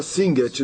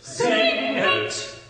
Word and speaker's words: Singet: Então, no coro 2, ele começa com a palavra Singet, 2 sílabas. Singet, singet.